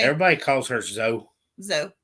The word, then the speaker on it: Zoe: If you're like me, it's Zoe, and nobody says it right. Everybody calls her Zoe. Zoe. Z-O. Like Joe.